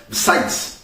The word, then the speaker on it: besides: Maintenant, on va voir le mot besides, avec un S à la fin, et on prononce bien fort le S, besides, pour faire la différence.